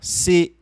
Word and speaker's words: ces: Então esse C aqui, ó, C, onde você não pronuncia o S, significa esses ou essas ou estes e estas.